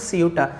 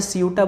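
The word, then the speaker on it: Ceuta: और इसको नाम, इस जो जगह है इसका नाम है सियूटा। आप चाहे सियूटा बोलो या सियोटा बोलो, कुछ भी बोलो, जो मतलब हर जगह की प्रोनाउंसिएशन का अकॉर्डिंग वो अलग अलग इसका नाम देते हैं।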